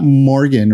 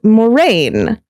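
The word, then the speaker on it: Morgen: for the Wikipedia and it's pronounced Moraine because it's Welsh Moraine not Morgan Moraine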